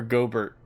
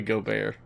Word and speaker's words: Gobert: first name at all is it goar or gobert I wanted to be I wanted rhyme with go yogurt but it's probably go bear like Co Bear yeah I I actually